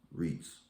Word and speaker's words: REITs: real estate investment trusts or reits pronounced reits are companies that own